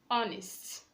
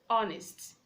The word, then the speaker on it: honest: you to say our not however we have honest honest the edge in silent and because age is silent in this word you are to use